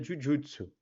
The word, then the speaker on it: jujutsu: Porque J, em japonês, tem o som de DJ, pra gente seria DJ. Então, o Jujutsu se pronuncia Jujutsu.